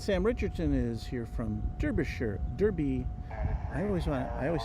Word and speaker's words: Derbyshire: And Sam Richardson is here from Derbyshire. I always say it wrong. Derbyshire. I gotta get back to England with that pronunciation.